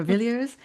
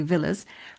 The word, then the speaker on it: Villiers: Um, and she was related to the very famous, the very infamous George Villiers or Villiers, depends on how you want to pronounce it, but I usually say Villiers.